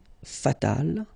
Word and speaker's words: fatal: And then fatal, feminine form, you just add this final but then phonetically it's the same, fatal.